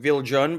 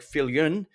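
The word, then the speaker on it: Viljoen: Now her last name looks like Viljun, but I believe the Dutch pronunciation is something like Filun as president and chief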